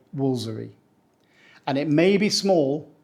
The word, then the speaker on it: Woolfardisworthy: really difficult to pronounce as it's spelled the locals say wolery they don't say wolar disw worthy or W